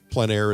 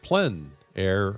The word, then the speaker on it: plein air: For those of you who don't know, plein air is a French term meaning in the open air or outdoors. The French pronounce it plein air, others pronounce it plein